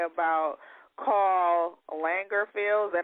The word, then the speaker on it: Lagerfeld: had some harsh things to say about Karl Lagerfeld. Is that how you pronounce his name? Lagerfeld. Karl Lagerfeld.